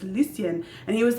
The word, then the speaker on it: Lucien: It's Lucien." And he was like, "Oh," and Oliver like pronounces Lucien like perfectly, and Luke is just like, "Oh, soon."